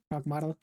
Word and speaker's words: Pragmata: it's pronounced Pragmata. Pragmata.